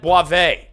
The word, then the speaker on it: Boisvert: They all told me, they said it's Boisvert. It's not Boisvert. He said Boivin.